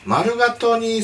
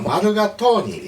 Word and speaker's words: Mulligatawny: はい、今日はクッキングノートの 121 ページ、マルガトニースープを作ります。